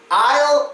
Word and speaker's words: aisle: they're pronounced well it's Isle and is they are homophones of each other they are pronounced exactly the same now I know this